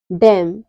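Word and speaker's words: damn: कब साइलेंट रहता है यदि किसी वर्ड में एम और एन दोनों साथ में आए तो एन हमेशा साइलेंट रहता है लेटर एम लेटर एम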